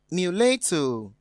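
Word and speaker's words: mulatto: have the word m-u-l-a-t-t-o this word is pronounced meletu muleto option b is pronounced mystery option c is pronounced option d is pronounced public so going by that we have muleto having the stress on the second sea level which is different from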